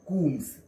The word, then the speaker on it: comb: C-O-M-B is a comb, not, it is as if to be pronounced as C-O-O-M-B. Just remember, womb, tomb and comb have a single O but have to be pronounced with as if two O are there.